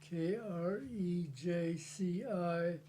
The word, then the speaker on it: Krejci: Okay, my name is Krejci, Krejci.